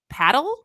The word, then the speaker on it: padel: the US and I I think it's pronounced paddle it's p-a-d-e-l and so it's been